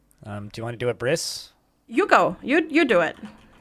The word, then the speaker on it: Abriss: But so it's German, and it's pronounced Abriss. Sure. So you pronounce the first syllable. Okay, so a Briss, but with more phlegm. Got it. Sure. Yeah. Well, it's like up, and then a slight pause, riss. Like it's not Briss, it's up, riss.